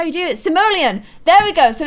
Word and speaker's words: Simoleon: how to do it guys Simoleon Simoleon okay there that's that's how the video says to do it guys that's how you do it Simoleon there we go so